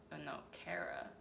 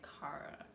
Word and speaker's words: Kara: It's either Kara or Cara. I think she said it was Kara. Because I always want to say Cara. But I know that's wrong. Or the wrong pronunciation.